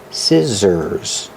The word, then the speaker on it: scissors: like this is scissors the SC makes the sound with no voice and the two s's in the middle make a zebra sound the sound is scissors these are scissors these